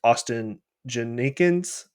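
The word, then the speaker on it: Ashton Jeanty: I'm pretty sure it's Austin Janikins is how you say his name.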